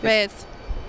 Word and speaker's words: Reyes: Let me help you with the Latin pronunciation. Reyes. Rees. There you go. You got the roll in the tongue.